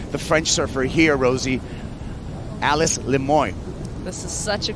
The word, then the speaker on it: Alice: display French I think if you're in California aloun it Alice but you know what I think Elise is the way that she would rather you pronounce it okay for the rest